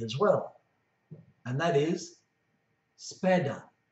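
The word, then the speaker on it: sepeda: well and that is spada spada the first e is soft the second e is hard and has a stress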